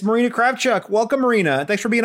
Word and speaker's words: Kravchuk: Well, it should be pronounced Kravchuk. That's the proper way when you say it in Russian.